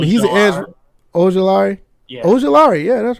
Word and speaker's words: Ojulari: Aziel, I don't know how to pronounce that name, but he's an edge. Ojulari? Yeah. Ojulari, yeah, that's right.